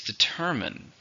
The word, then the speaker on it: determine: Word number 3 is determine. Determine means find out what happened. The grammar label? Verb. How many syllables are in determine? 3. Stress on the second one.